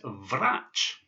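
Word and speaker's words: врач: This is the ch sound, and this word is vrach. Vrach. And vrach is the word for a doctor, a medical doctor. So vrach.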